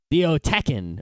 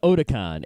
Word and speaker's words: Otakon: And there's another kind of mispronunciation, which is like Theotekin or as opposed to Otakon.